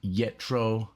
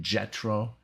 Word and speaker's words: Jethro: amazing they're going to be from the band yetro tal or jet rotel um i really i looked it up how to pronounce it and i'm it said i know